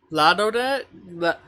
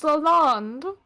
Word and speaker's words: Lalonde: Lowe's Ladodet? It's Rose Lalonde. Lalonde? That's so weird to pronounce.